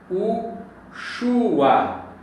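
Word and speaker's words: יהושוע: Yud, Re, Vav, Shin, Vav, Ain, que dá justamente Yahushua. Então, se nós lermos da direita, que é para a esquerda, Yahushua. Se nós analisarmos a fundamentação da pronúncia Yahusha, fundamentada no nome de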